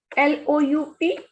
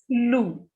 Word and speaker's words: loup: Next is loup. Ou sounds u, and p is the last consonant, and whenever p is at the end, we don't pronounce it. So it is silent here. The pronunciation is loo.